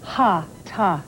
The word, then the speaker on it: hatha: originally practiced in india hatha yoga or ha ta yoga as correctly pronounced these are sanskrit words